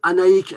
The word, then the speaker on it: Annaïck: trouve qu'au final absolue on doit dire annaïck même si on écrit annaïck avec âgées ce qui est normal par rapport aux bretons on doit prononcer à iq comme s'ils avaient écrit toujours ces cas c'est un